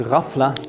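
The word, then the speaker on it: غفلة: famously referred to as rafla the GH sound is pronounced roughly like the French R it's a kind of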